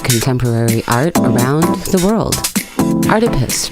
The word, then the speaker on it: Artipoeus: art around the world Artemis pronounced like octopus because art is everywhere this week are the